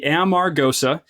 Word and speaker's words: Amargosa: living and I I hear this the Val pronounced all different kinds of ways but uh it is the it's the Amar goosa and the way that